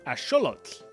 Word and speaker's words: axolotl: So it would be correctly pronounced as axolotl.